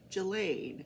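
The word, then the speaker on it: Ghislaine: pronounce it wrong j jillaine there's no you don't pronounce the s julaine maxwell um the jury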